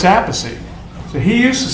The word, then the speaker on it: Appice: stuff and that stuff, he changed his name because Rod called him Appice. So he started going Appice, and then ever since then everybody's going, well, how do you say the name? So my father said Appice, and that's what the family says.